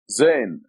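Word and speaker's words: ز: This is the letter Zain. This is the name of the letter, Zain, and it's equivalent to Z in English.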